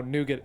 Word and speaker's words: nougat: actually don't know how nougat is pronounced in in French but in America we pronounce it with the hard T okay look at the